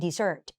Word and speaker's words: dessert: เสียง ควบ เป็น Death แต่ จริง ๆ ตัว นี้ มัน อ่าน ว่า Desert dessert เห็น มย มัน เน้น ที่ ตัว หลัง แล้ว อ่าน ว่า dessert ตาม คุณ ครู ทัน